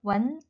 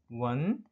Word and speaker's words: 闻: 그래서 이 들을 문자 어떻게 발음하죠? 원. 원.